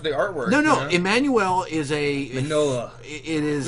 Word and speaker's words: Emmanuel: It's a man. Emmanuel. Yes. Get it right.